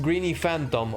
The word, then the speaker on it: Greeny Phatom: Greeny Phatom, pronounced Greeny Phantom. Oh wait, so it's actually Greeny Phantom?